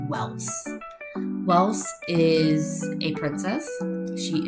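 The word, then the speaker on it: Ewels: For this character, it's the same premise as the spelling from Barn. It is spelled E W E L S, but it is said Welss.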